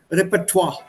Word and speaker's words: repertoire: it's a french word it's a french word so you'll have to pronounce it the french way repertoire no the end is